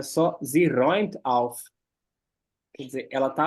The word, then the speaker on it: räumt: Eu sempre esqueço a pronúncia desse A com trema. É igual o EU.